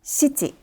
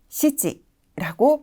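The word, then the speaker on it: 七: 의미하는 7 7이라는 한자인데요네 음독은 CG cg라고 발음이 됩니다 어감이 비슷할까요 7 CG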